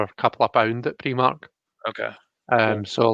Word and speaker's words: Primark: spread for jackie we'll instance about how i pronounce pre-mark so i know that it's meant to be pronounced primark but i've always called it um and i